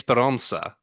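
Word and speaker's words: Esperança: Madrid which is H Portuguese pronunciation here is esperansa uh which means hope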